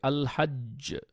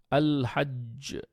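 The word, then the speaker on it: الحج: তারপর আমরা দেখতে পাচ্ছি আল হাজ্জ আল হাজ্জ আল হাজ্জ এই জিমের উপরে কিন্তু অনেক ভালোভাবে এফর্ট দিয়ে আপনাকে কলকলাটা উচ্চারণ করতে হয়েছে তারপর ধরেন আল হাক্ক আল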